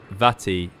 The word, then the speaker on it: Vati: Says, if we're moaning about pronunciation, it's Vati, as in Butty.